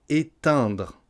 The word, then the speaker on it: éteindre: À prononcer, le premier verbe c'était étendre, celui-ci c'est éteindre. Éteindre.